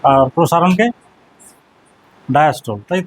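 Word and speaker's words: diastole: সিস্টোল আর ডায়াস্টোল এই উচ্চারণটা কোনোদিন আর করবে না, বলবে সিস্টোলি ডায়াস্টোলি। তো প্রোনাউন্সিয়েশন সিস্টোল ডায়াস্টোল ভুল প্রোনাউন্সিয়েশন, যেহেতু বাংলা পড়ে এসেছিস, সিস্টোলি বলবে, ডায়াস্টোলি বলবে, নট সিস্টোল নট ডায়াস্টোল, সিস্টোলি ডায়াস্টোলি, ঠিক আছে।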